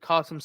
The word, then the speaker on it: Qasem: How do you pronounce his name? Qasim Solem Soleimani. Yeah, that's how you say it, Qasem All right.